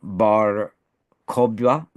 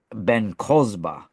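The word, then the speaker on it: Bar Kokhba: Um, there was Shimon Bar Kokba, as I think I'm pronouncing that less, or maybe you could pronounce it with the original. It Shimon Bar Ben Kozba. That's the original, but I think it was changed to Kokba. But Ben Kozba is the original, and he fought against the legions of Rome.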